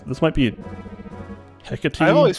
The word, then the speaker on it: Hecate: pronounce this might be hecate i've always pronounced it hecate well it's a word so that so if you're using greek pronunciation the e is enunciated so it's at least